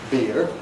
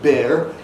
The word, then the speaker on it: beer: Now, some Americans feel this to be an E, beer. Others feel it to be an A, bear. and perhaps most of them feel it to be a short E here.